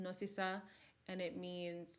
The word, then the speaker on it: Nosisa: But our middle names, my middle name is Nosisa, pronounced Nosisa, and it means like to have mercy, merciful, filled with mercy.